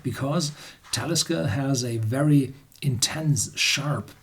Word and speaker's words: Talisker: last but not least is the Talisker it's pronounced Talisker it's no Gallic word the alig is always pronounced on the second syllable part back boom more and this is talisca it's a Nordic word and this is the